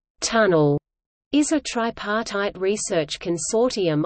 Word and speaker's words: TUNL: abbreviated as T UNL pronounced as tunnel is a tripartite research